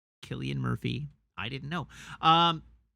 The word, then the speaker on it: Cillian: and any anyhow that one says I know it's stupid but it's a hard k ilian ah okay all right I I accept it I want to pronounce names correctly Killian Murphy I didn't know